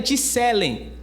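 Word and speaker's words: צלם: E a palavra imagem no original, ela é a pronúncia dela é Ticelen.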